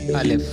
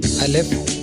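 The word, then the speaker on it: الف: And these 3 are Alif, Waw and Ye. So let's proceed to our first lesson. In this lesson, we are going to learn our first character, Alif. Alif sounds like English letter A.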